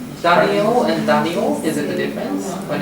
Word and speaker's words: Danielle: Daniel and Daniel, is it the difference? When it's Yeah, generally female is E-double-L-E, Danielle, and you pronounce it like French, Danielle and Daniel, so the stress will be different.